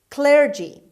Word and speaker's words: clergy: word number nine clergy clergy clergy the stress is at the beginning means persons prepared for